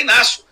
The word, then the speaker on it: Inácio: falar amigo amigo o nome do cara é Inácio Você g mudo não